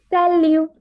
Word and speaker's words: salut: Salut. Salut. Salut. Yes. Here we don't pronounce the T. Okay. So it's just salut.